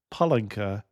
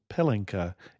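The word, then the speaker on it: pálinka: note note on pronunciation in Hungary palena is schnaps and pelena is diaper so make sure you emphasize the PA like Papa when you ask for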